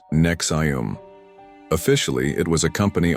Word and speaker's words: NXIVM: In the 1990s, Ranier founded Nex IVM, pronounced Nexum.